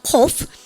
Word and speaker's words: cough: GH 발음, F 발음 하시면서 발음 까답시다. 코프.